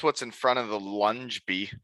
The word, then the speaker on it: Ljungby: Because that's what's in front of the lunge bee.